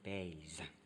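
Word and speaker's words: bass: the b c b it's as if you're saying b b a s e otherwise it's double s okay but you pronounce it baze cleff same thing there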